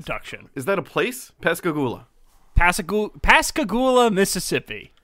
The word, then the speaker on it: Pascagoula: it you just had it open i did pascagoula the pascagoula alien production is that a place pescagoola pasagu pascagoula mississippi how do you spell it